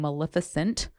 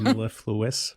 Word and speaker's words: mellifluous: And you have no idea how long I practiced that word and how long it took me to stop saying maleficent. Instead of mellifluous.